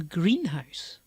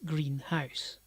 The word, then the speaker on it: greenhouse: my classes of english pronouncing a greenhouse as green house even though it's one word and pronounced as one word because they see the two elements green and house and treat them as separate words that's part of their over pronunciation it is a green house instead of a it